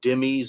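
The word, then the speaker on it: dhimmi: and development of the Zima in Islamic law most people call them demies or dimma so I'll use that pronunciation uh and what I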